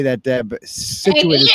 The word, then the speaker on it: Scituate: I know you don't like when I say that, Deb, but Scituate is how it's pronounced.